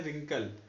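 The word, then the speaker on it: wrinkle: फिर Regal, right, तो इसमें जो W है वो साइलेंट रहता है, ठीक है। तो आप कैसे, जैसे ये है रिंकल, तो हम कैसे प्रोनाउंस करते हैं, W नहीं बोलेंगे, W ने सीधे रिंकल।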